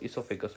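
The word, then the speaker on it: oesophagus: चलो, इसोफेगस सबसे बढ़िया इसोफेगस खासियत है कि इसके स्पेलिंग में ही गड़बड़ है। स्पेलिंग में ऐसे गड़बड़ है कि इसका ओ साइलेंट होता है।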